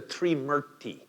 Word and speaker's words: Trimurti: they're known as the Three Murti. The Three Murti, T-R-I-M-U-R-T-I, right? And that first syllable gives you a clue, the Three Murti, right? We have a few words in English that start with T-R-I.